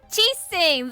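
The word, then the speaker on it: Qixing: ches Singh would hide the Geo archon's vessel ches Singh that's how you say its name so where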